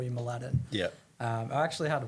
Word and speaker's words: Mladen: So my name in my background is Serbian, Yeah. and my name is pronounced Mladen.